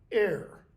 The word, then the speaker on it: ere: Ere, E-R-E. Not ere as in to make a mistake, as in before.